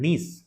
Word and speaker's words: gneiss: होती है that's called नीस। इसकी स्पेलिंग होती है GNEISS, नीस रॉक्स। इन रॉक से बेसिकली मिलके बना है आपका that is the Bastar plane.